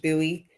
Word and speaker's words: Bowie: It's pronounced Bowie.